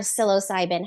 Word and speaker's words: psilocybin: Silo I don't I don't know how to pronounce sbin psos cybin there we go I you say magic mushrooms magic mushrooms or silos cybin how did silos cybin help improve your sex life and it's interesting